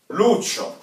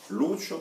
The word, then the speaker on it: Lucio: В мужском роде Лучо, ударение на У. В женском роде Лучия, ударение падает на И. Лучо, Лучия.